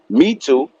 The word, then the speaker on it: Metu: They got rid of Me Too, Metu. That's the way you pronounce it.